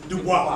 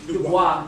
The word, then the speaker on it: Du Bois: That's how W.E.B. Du Bois. Du Bois. Let's say it like he would want to say. Du Bois and the Talented Tim.